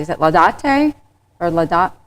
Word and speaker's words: Laudate: I always want to make sure I pronounce it correctly. Is it Laudate or Laudatte? Laudatte?